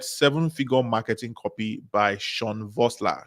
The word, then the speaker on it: Sean Vossler: and then get Seven Figure Marketing Copy by Sean Vossler. Sean Vossler is spelled SEANVOSSLER, right?